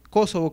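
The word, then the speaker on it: Kósovo: que viene del francés; Kosovo, Kosovo, que Kosovo con tildes viene del serbocroata, mientras que Kosovo, la forma llana, viene del albanés; o Rumania, o Rumania,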